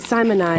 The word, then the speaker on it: Simonize: The Simonize, I looked it up, and it shows you how to pronounce it. Simonize.